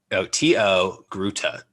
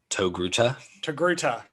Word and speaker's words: Togruta: It's spelled T-O-Gruta. Togruta.